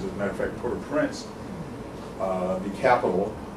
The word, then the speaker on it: Port-au-Prince: As a matter of fact, Port-au-Prince, the capital, Port-au-Prince, if I'm going to say it in the right French pronunciation.